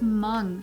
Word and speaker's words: Hmong: Well, in this article, they said it's pronounced Hmong with the U.